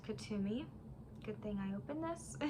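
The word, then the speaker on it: Kuthumi: as i do the ancestor spirit um oh kethumi is actually pronounced katumi good thing i opened this is an ascended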